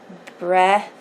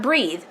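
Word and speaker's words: Breathed: devil to Revd Ohio that's how you say it breast a breast not breathe breast Ohio and he invites the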